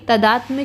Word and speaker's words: तादात्म्य: और एकान्विता, ये सभी तदात्म्य के पर्यायवाची हैं। तदात्म, यहाँ पे ता और माँ दोनों आधे आधे हैं, आधा ता है आधा माँ है, फिर या है, तो तदात्म इसका प्रोनाउंसिएशन होगा। इसके बाद अगला शब्द देखते हैं।